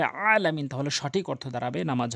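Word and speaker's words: عالمين: সূরা ফাতিহার ওখানে আলহামদুলিল্লাহ রাব্বিল আলামিন বলে, যারা আলামিন বলেন তাদের নামাজ হবে না, এই হামজা আনলে নামাজ হবে না, আইন উচ্চারণ করতে হবে আলামিন, তাহলে সঠিক অর্থ দাঁড়াবে নামাজ হবে।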